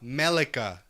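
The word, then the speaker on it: Miquella: Melika. That's how you pronounce it.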